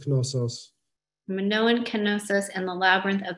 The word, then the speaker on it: Knossos: who knows to play also in greek it's knossos minoan and the labyrinth